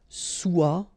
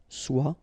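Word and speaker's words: sois: Okay, then of course être and avoir, so être will become soit, remember final S is not pronounced, soit, then soyons, soyez, all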